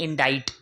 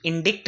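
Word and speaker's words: indict: हैं, उसको बोलते हैं इंडाइट। इंडिक्ट नहीं होता है, लिखा जरूर डिक्ट है लेकिन डिक्ट नहीं होता, इसके प्रोनाउंसिएशन एग्जैक्ट होते हैं इंडाइट।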